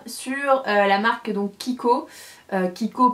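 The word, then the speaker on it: Chicco: Kiko pas avec un K. Kiko CH enfin Chico he pour ceux qui prononcent en français.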